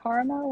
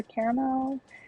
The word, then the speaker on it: caramel: what the decision was was it caramel or caramel or caramel I think I wind up saying it with two syllables thank you so much